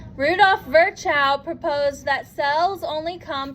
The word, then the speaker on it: Virchow: Next, Rudolf Virchow, V-I-R-C-H-O-W.